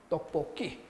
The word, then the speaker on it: 떡볶이: 그래서 발음을 떡, 뽀 하고 여기 색깔을 바꿔볼까요? 이렇게 끼, 떡볶이 이렇게 발음이 됩니다.